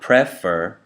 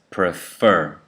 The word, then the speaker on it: prefer: So in the word prefer, there are two syllables, prefer. The first syllable is unstressed. That means you say fur stronger, so it's like an accent. So it's not prefer, it's prefer. So that first E in the first syllable becomes the schwa sound, prefer.